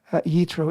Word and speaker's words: Yitro: if anybody's not familiar yitro is the hebrew pronunciation of jethro the father-in-law of moses